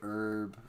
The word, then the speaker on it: herb: things like fort forte herb um herb is french entrepreneur you do not pronounce the h in herb anybody that says otherwise